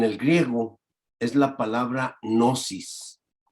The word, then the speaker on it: gnosis: Mire, la palabra para conocimiento en el griego es la palabra gnosis. Se escribe G-N-O-S-I-S, gnosis. Digo, la G, como quien dice, es como muda y quiere decir literalmente conocimiento.